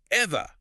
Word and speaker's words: Evah: class Porter is satirizing, it must be pronounced in this incredibly clipped, hyper-upper-class, lockjaw dialect. It is Evah.